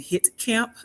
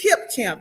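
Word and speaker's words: Hipcamp: So, it's right in I said it wrong, but it's hip camp.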